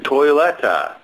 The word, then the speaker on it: Toilette: And we don't even pronounce the toi, like toilette or something that it would come from in German. It almost sounds more like just toilette, as if there wasn't even the I after the O.